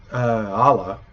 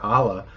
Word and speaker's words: ala: me if I'm wrong, there's a word, ala, which I've stressed how there's no okina at the beginning of that, ala, which means road or way. But if you put an okina at the beginning of it, ala, it means it's fragrant. So it's something you would say about flowers or food or something. So ala is road and ala is fragrant.